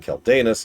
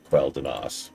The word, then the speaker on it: Quel'Danas: So, I'm going to keep saying Quel'Danus and Quel'Thalas to distinguish the two areas. But yes, the correct pronunciation is Quel'Danas.